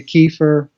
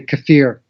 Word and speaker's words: kefir: Both pronunciations. Some people say kefir. Mm-hmm. Some people say kefir. I usually say kefir. So I hear both pronunciations. So whatever you're comfortable with is fine.